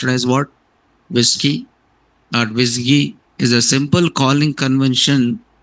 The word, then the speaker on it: WSGI: So web server gateway interface the web server gateway interface pronounced as what visi whiskey is a simple calling convention from web servers to forward a request to what your web application.